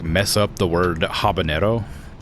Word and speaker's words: habanero: So, a lot of people will like mess up the word habanero like pepper because they assume it's pronounced like jalapeno, right?